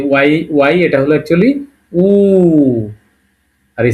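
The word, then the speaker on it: У: তারপরে পি কে এর উচ্চারণটা কি হবে? এর। আর এই যে ওয়াই, ওয়াই এটা হলো অ্যাকচুয়ালি উ।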